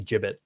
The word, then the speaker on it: gibbet: say whatever you want is it technically the wrong pronunciation I think it's technically supposed to be gibbet I don't think it